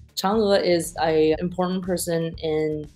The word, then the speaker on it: Chang'e: The way you correctly pronounce that word is Chang'e. Chang'e is an important person in Chinese mythological legends.